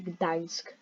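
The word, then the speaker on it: Gdańsk: like really relatable but the information will say dansk yeah that's how you say it but yeah um she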